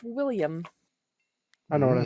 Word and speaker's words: Wilhelm: what's interesting all right that is actually pronounced William I know what I